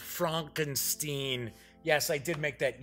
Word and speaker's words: Frankenstein: If it's EI, then it's pronounced Stein. If it's IE, then it's Steen. I was like, oh, yes, it's pronounced Frankenstein.